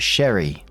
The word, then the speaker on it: Sherry: whereas our girl is plain old Sherry, like berry.